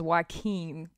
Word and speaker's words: Joaquin: Okay, so the next story that she's under fire for is the one about, I think his name is Joaquin, is how you pronounce it.